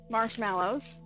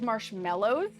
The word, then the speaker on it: marshmallows: Marshmallows. Before anybody says it's marshmallows, my friends, that is an A. Okay, it's marshmallows. People sometimes pick on me for my pronunciation, but it says mallows.